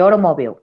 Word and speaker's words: automobile: Esta T no se pronuncia como una R.